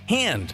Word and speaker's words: Han: much like how in the star wars films characters pronounce words differently for instance lando says han like hand instead of han like hans gruber anyway there was a